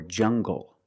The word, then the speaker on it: jungle: Make the hard G. English or jungle.